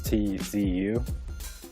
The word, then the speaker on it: Tzu: Did you ever read The Art of War by Sun Tzu? I can't pronounce the last name. It's Tzu.